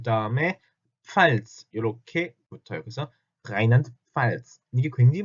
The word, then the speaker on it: Rheinland-Pfalz: 그래서 Rheinland-Pfalz 이게 굉장히 발음이 어렵거든요.